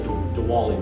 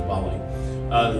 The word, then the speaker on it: Diwali: a Doug unit so you probably say Diwali but it's the pronounce it into Bali the other one is